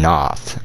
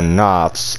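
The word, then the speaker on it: Knoth: god and even sullivan noth i believe that's how you're saying it right because the k and the n would would make the case silent like not but it's not i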